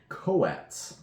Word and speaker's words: Coatl: Coatl. Yes. L is silent. Which we didn't know.